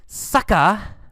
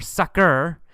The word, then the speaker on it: sucker: beat you and then sucka sucka or sucker two pronunciations sucker or sucka that's uh it just